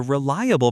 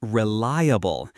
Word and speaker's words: reliable: Pronunciation tip, it's pronounced reliable. The stress is on the second syllable.